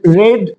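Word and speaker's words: read: রিড, রেড, রেড। বানান একই থাকবে, উচ্চারণটা রেড হয়ে যাবে।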